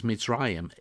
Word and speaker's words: Mitzrayim: say egypt and says mitzrayim even in english translation it gives you the uh the hebrew pronunciation of the name see in hebrew the